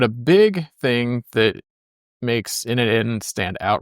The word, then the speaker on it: n8n: here, since there's undoubtedly going to be an N8n debate. It means nodemation, or it's pronounced N8n.